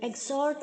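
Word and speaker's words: exhort: एग, एक्स नहीं, एग्जॉर्ट नहीं, एग. एग अंडा खाते हैं ना, एग, वैसे एग्जॉर्ट. तो ई के आगे जो एक्स है वो आप जी की तरह प्रोनाउंस करेंगे और एच को जेड की तरह प्रोनाउंस करेंगे.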